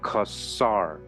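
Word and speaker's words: Khazar: words kasar added onto it it is correctly pronounced kasar the Jewish encyclopedia has five pages on the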